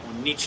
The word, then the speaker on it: niche: you don't need to niche down or niche down depending on how you pronounce it in that way all